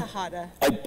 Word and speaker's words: Tejada: Tejada. I butchered it.